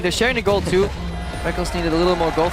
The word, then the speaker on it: Rekkles: Technically, it is written Rekkles. Yeah. It is. You spell it phonetically. All the way back in his first major tournament, IPL 5, the Rekkles and Rekkles debate was in full swing. I still want to call him Rekkles, but I've just gotten so used to calling him Reckless because he says so.